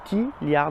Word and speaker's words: Tlyard: chez tiliard ah oui je sais je sais que ça s'écrit tiliard parce que en fait le T se prononce seul un peu comme Mister te donc t liard VO alors pour ceux